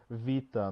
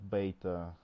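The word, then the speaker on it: βήτα: yeah and once again it's Vita not beta just and then what's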